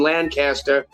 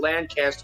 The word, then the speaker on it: Lancaster: It's at LA Tap Room, which is in Lancaster. Which, if you're from this area, you don't pronounce it Lancaster, you pronounce it Lancaster.